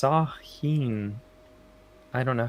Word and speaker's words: Samhain: kendall says spooky facts samhain is pronounced sahin i don't know how